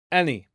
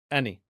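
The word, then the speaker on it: ܐܢܝ: And then finally, ani, stress on the first syllable. Alep with the long A, the elided he, nun, yod, ani.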